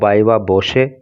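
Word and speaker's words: viva voce: एंड बायवा बोशे, देखिए इसका जो प्रोनाउंसिएशन होता है वो बायवा बोशे या बायवा बोशे होता है, फ्रॉम जनवरी 3 टू फरवरी 1।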